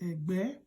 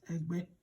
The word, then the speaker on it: Ęgbę: first one is GB, and that GB, you can just say GB as in the Ęgbę. So remember that the will come with the consonant, and the E here will also come with the consonant, Ęgbę.